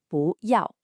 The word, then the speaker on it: 不: The character 不 is usually a 4th falling tone. But when it comes right before another 4th tone, like 要, it magically changes to a 2nd rising tone, 不要.